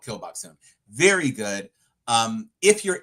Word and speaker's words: Gil Bok-soon: uh seasoned killer uh whose name is Gil Bok-soon, but Gil and Kill sound the same, and she's a murderer, so it's called Kill Bok-soon.